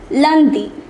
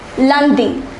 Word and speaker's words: lundi: Yes, it's lundi. Sorry. For Monday, we say lundi.